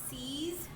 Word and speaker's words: seize: Okay, the next word that I want to do is seize, S-E-I-Z-E, seize.